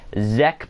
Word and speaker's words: ZEQ: And ZEQ says, name is pronounced Zek, by the way.